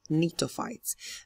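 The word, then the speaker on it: Gnetophytes: is called the nites the G here over here is a silent letter so we call them nites they are the least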